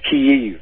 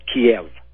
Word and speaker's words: Kiev: It's pronounced Kiev, not Kiev.